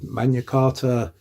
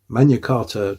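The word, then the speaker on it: Magna Carta: the great charter, the mana carta uh 1215 and I do know that I said mana and not magna because in Latin mana is the correct way of pronouncing it. Manarta 1215.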